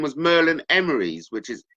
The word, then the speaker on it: Emrys: And Merlin's full name was Merlin Emerys, which is spelled Emrys.